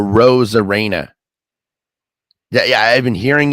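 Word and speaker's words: Arozarena: parodies and Randy a Rosara and by the way it's a Ros Arena yeah yeah I've been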